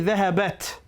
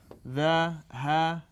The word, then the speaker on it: ذهبت: It's actually ذهبت. I know. And because that sukun meets with another sukun, we pronounce it as a kasra, even though it's still